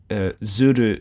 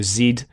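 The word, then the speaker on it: zuid: I think it's pronounced like Zud or Zid.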